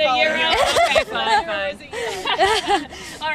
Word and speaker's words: gyro: Because I always say gyro. I think no one knows how to say them. It is a euro. Okay. Greek, it's a euro.